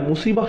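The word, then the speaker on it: مصيبة: এরপর আবার শব্দটির শেষে রয়েছে তা মারবুতা, যে জন্য আমরা মুসিবাহ উচ্চারণ করি, মুসিব না কিন্তু।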